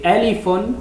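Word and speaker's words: ألف: Par exemple, la première lettre c'est alifun, le nom c'est alif, mais la prononciation c'est a.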